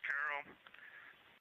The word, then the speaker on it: Carroll: Her name was Carol, the spouse of Reid, the mother of Katie and Ellie.